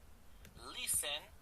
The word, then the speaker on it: listen: shower, have lunch, have lunch, have dinner, listen, only listen, the D is not pronounced, la T no se pronuncia.